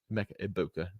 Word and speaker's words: Egbuka: where I'm avoiding Emeka Egbuka. No G. I got yelled at for pronouncing the G earlier this week, so that is my bad.